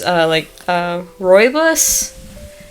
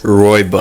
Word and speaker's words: rooibos: But it's rooibos. It's spelled Rooibos. Rooibos. Rhombus. Rooibos. Roidus? Rooibos. Roibus. Actually, don't say bus because that's the wrong pronunciation.